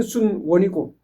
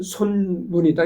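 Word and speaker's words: 孫文: 그러니까이 순은 중국 발음으로 했을 때는 순원이고 우리 한자 발음으로 했을 땐 손문이다. 이런 얘기죠.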